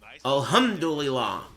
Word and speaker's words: Alhamdulillah: Pronounce it hum, not ham. Hum. Alhamdulillah.